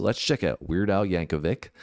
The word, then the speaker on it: Yankovic: description box so let's check out weird out Yankovic it's Yankovic apparently we had uh some comments saying that normally would be Yankovich because I said that in the last video